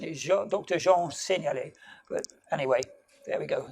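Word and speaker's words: Jean Seignalet: french accent so sean said okay so proper pronunciation is your doctor jean ceniali but anyway there we go so that's an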